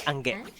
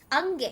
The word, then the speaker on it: Ange: So, and the way we actually pronounce it is Angge. Angge. Yeah, with a g instead of a G.